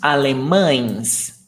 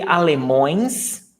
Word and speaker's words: alemães: Uns alemães altos. Altos. And then you can ask me, Yuri, can I say alemões? Não. Está errado. O plural de alemão é alemães, not alemões.